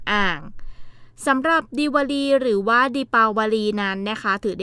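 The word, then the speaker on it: दीपावली: ฮินดี้ นะ คะ ก็ จะ ออก เสียง เป็น ดิ ปาวลี ซึ่ง หมาย ถึง ประทีป ที่ ชาว อินเดีย จุด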